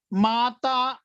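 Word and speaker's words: また: Mata ai masho. Huh? Mata. Mata means later on. Mata. Mata. Mata. Like mother is a mata in Hindi word. Hmm? Same pronunciation.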